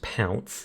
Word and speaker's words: Ponce: It's pronounced Pounce.